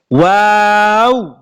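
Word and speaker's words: و: ওয়াও, এই হরফটার উচ্চারণ হবে ওয়াও।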